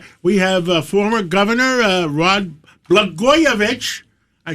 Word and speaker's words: Blagojevich: And we have former Governor Rod Blagojevich.